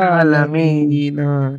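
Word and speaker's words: العالمين: দুলিল্লাহ আলহামদুলিল্লাহি রাব্বিল আলামিন আলামিন আইন উচ্চারণ করুন আলামিন ঠিক আছে আলামিন কোন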